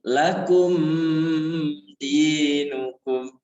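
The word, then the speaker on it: لَكُمْ دِينُكُمْ: keenam lakumu di lakum Diam jangan lakum dinukum paham kenapa tidak boleh begitu karena ini menghadapi huruf Izhar Gimana bacanya langsung aja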